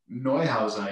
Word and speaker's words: Neuhauser: We're pretty excited tonight to have the editor-in-chief from RoadRunner magazine, and should I say it, Neuhauser? Neuhauser, yeah. Neuhauser. Pronunciation, perfect.